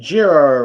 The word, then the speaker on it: Jiro: As Jiro, it is Jiro, right? I am pronouncing it. It is Jiro, yes.